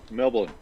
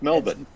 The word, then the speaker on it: Melbourne: Melbourne. Melbourne. It's Melbourne. Melbourne. It's not Melbourne. Yeah. Melbourne. It's Melbourne. It's Melbourne.